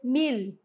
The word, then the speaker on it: mil: u certo mi Ok mas em espanhol ele tem um som que a gente chama de lateralizado a gente vai levantar a língua certo então vai ser mil Ok mil Então já